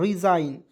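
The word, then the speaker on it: resign: है दोस्तों य देखेंगे आर ई एस आई जी एन तो इसे पढ़ेंगे दोस्तों रिजाइन रिजाइन एस आई जी एन को आपको जाइन पढ़ना है सिंपल सी बात है और आरई को री लिख दीजिएगा तो हो जाएगा रिजाइन मीस होता है दोस्तों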